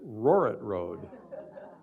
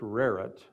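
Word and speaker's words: Rohret Road: just come to town he or she says roret Road have any of you heard of RIT Road any if you not heard of RIT Road I should say it's pronounced RIT it looks like roret a little bit about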